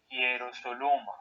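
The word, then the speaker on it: Ἱεροσόλυμα: Hierosoluma. Bravo, hierosoluma. Recuerda, el acento va sobre la omicron, no sobre la ypsilon, y la ypsilon su pronunciación es u.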